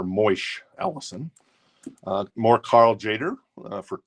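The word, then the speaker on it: Tjader: is it is it jader Carl jader I'm I'm GNA think the t is silent that's a VG plus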